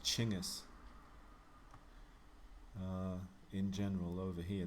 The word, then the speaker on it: Genghis: course i grew up thinking his name was genghis but it's actually pronounced chingus uh in general over here they'd call him